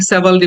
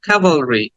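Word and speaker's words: cavalry: sound কাভালরি ক্যাভালরি এটাকে অনেকে সেভালরি বলে থাকে বাট সেভালরি না কাভালরি কাভালরি আবার খেয়াল করো আমার মুখের দিকে খেয়াল করো এবং সাথে সাথে বলো কাভালরি কাভালরি কাভালরি then the next word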